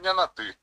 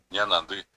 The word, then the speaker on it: ñanandi: Yo puedo decir ñanati, cualquiera me va a entender, pero el que sabe guaraní me va a decir pano ñecuay. ¿Por qué? Porque no está pronunciando correctamente, va a tener que decir ñanandi.